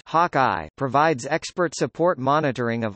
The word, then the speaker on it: HawkI: Hockey, pronounced Hawkeye, provides expert support monitoring of all USGNC systems, leaving the ADCO to coordinate with other flight controllers and MCCM.